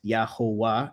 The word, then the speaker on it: Yahuah: When it was pronounced in three syllables, it will be pronounced as Yahuah, as in Yahowah, or Yahu, Yahoowah.